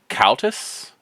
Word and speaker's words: Cautes: You do see the name Countess. It's spelled Cautes. Countess.